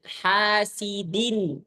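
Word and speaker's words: حاسدٍ: Nah, jadi sempurnakan kasrah. Terus kasrah itu adalah rahang turun ke bawah ni ya. Nah. Nah. Jangan sidin. Ada orang yang narik gini sidin itu buat tipis.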